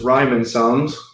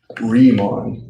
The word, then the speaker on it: Riemann: which of course is rhyming sounds riemann sum sorry i excuse my southern word pronunciation riemann that's his name okay um so yeah